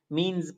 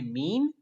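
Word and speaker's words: mesne: ही मुश्किल होती है कोई मिशन पड़ता है कोई मींस पड़ता है कुछ कहना पड़ता है लेकिन सिंपली इस या साइलेंट है इसको करते हैं मीन प्रॉफिट मीन प्रॉफिट का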